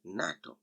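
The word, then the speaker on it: NATO: pronounced separately as na tu but it is pronounced as a full world that is natto so this is one little difference between an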